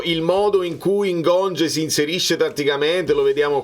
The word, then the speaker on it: Ngonge: è come si pronuncia perché sento un gonge e non è Gong ma dovrebbe essere così ciril Mon cil Mon Sì Gong Gong perché belga perché ha